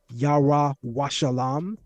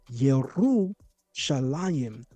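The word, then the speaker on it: ירושלים: It's not yalam. It's yeru shalim.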